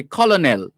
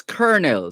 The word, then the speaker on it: colonel: you would perhaps say colonel but it's not colonel it's kernel so kernel is spelled c-o-l-o-n kernel spelt c-o-l-o-n-e-l but pronounced kernel and in jamaica we